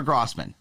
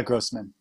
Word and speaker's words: Grosman: uh met or chatted is it grossman or grossman it's uh grossman grossman excellent well welcome uh to the program